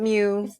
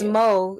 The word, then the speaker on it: Meaux: It's called Mo. That's why my name on Facebook is Mo. It's like Mo. French, but people know that ho, when you spell it HEAUX, it's still ho. Like, people know ho, but they say Mew. And it just fucks with me. So it's not Mew. It's Mo.